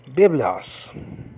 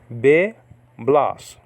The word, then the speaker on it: biblos: Biblos. Biblos. Two syllables.